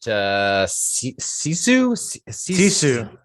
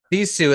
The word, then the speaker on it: sisu: I think you pronounce it Sisu. Sisu.